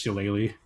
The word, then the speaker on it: shillelagh: You may enjoy knowing that it's pronounced shillelagh.